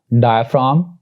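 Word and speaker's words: diaphragm: एक और रूल जी का ये है कि जी इज not pronounced before M, यानी जी एम से पहले भी प्रोनाउंस नहीं किया जाता, वो साइलेंट होता है। मिसाल के तौर पर डायफ्राम, फ्लैम एंड पैराडाइम, तो यहां पे जी will be silent because it is coming before M.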